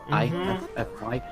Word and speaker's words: IF: I'm German, I guess, I called her IFFFY. IFFY. I pronounced that as Ify. And so when I got into the community and people start calling her Iffy, that sounded kind of iffy to me.